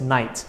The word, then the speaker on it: knight: god knows how suddenly people decided to pronounce it as night what happened to the